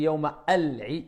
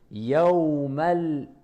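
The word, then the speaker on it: يوم العيد: Est-ce que je dis Yawma al-Eid? Non. Hamza wasl. On fait la liaison. Yawmal.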